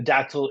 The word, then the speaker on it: dactyl: So the dactyl is a stress syllable followed by two unstressed syllables. So it's likeun dun dun, right?